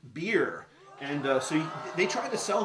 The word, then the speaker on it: Byrrh: It's spelled Byrrh, but it's pronounced Byrrh.